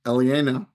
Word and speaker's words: Aliena: One of the strongest is, I'm going to say it wrong every time, Aliena. That's right. Very good.